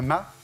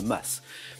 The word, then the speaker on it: mas: de maison Milan un ma bonne réponse le ma ou le m selon d'où on le prononce he voilà les deux prononciations sont bonnes maison provençale plus petite